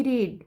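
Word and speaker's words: read: eight मैंने खाया आई रीड मैं पढ़ता हूं मैंने पढ़ा रीड का वही होगा रेड ठीक है स्पेलिंग वही रहेगा रेड आई रीड मैं पढ़ता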